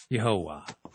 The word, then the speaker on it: Yahweh: all together in Hebrew the three syllable tetraman would have been pronounced yahovah now take this example